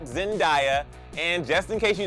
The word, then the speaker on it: Zendaya: actually say her name wrong I'm talking about zendaya not zendaya and just in case you don't believe me let's hear it from Zendaya's mouths yourself in case anyone is wondering it